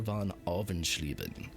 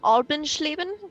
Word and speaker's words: von Alvenschleben: veiled distaste for Commander von Alvenschleben. Okay, Commander von Albenschleben? Von Alvenschleben. Alvenschleben. Alvenschleben.